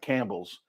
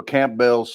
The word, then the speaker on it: Campbell's: So you need to say Campbell's, not Campbell's, because you're missing some letters there. Campbell's. So Campbell's soup.